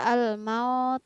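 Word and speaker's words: الْمَوْتَ: huruf qaf al-maut ah ingat kembali hukum bacaan mad layyin yaitu apabila ada huruf hijaiyah yang berbaris fathah kemudian diikuti dengan huruf wau sukun al mau tahu hai alquran tepat jika kita membaca al-maut acep yang benar adalah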